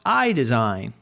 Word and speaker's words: Aille: you know but it's it's pronounced eye design and that makes great tremendous sense so how about